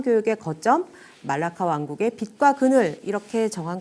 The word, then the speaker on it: 말라카: 이렇게 정한 것입니다 4 말라카 는요 말레이어로 이제 물 라카 말라카 뭐 다양하게 부릅니다 그리고 또 뭐 현지 사람들의 말을 들으면 뭐 몰라 말락 뭐 이런식으로 발음을 하기도 하고요 근데 이제 우리는 그냥 한국어 발음에 적절하게 가장 이제 비슷하게 말라카 이렇게 그냥 씁니다 뭐 때에 따라서는 몰라